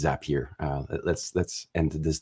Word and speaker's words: Zapier: is uh mostly focused on zapier or zapier depending on how you want to pronounce it I think it's zapier uh let's let's end